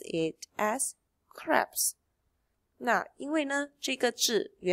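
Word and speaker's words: crêpes: but this is a French word so we pronounce it as craps now Elena chica - yeah - far when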